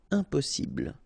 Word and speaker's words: impossible: Don't insist on the final E. Impossible.